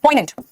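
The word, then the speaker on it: poignant: ऐसे ही मूड को आप एक और वर्ड में यूज करते हैं, पोइनेंट, देखो इसमें जी साइलेंट, पोइनेंट।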